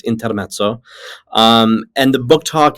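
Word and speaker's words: Intermezzo: by Sally Rooney and I'm sure that people just pronounce it intermo but it's intermo um and the book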